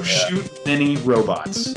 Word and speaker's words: Shoot Many Robots: was really rad so Shoot Many Robots and it's it's many like m n y not mini like Mi i n cuz whenever I say